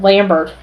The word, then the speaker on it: Lambert: blame him Christopher Lambert Lambert um I'm pronouncing his name the French way because he is French incidentally turns out uh